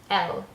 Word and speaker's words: elle: So going with the same similar drawing, Elle, pronounced like Elle Macpherson.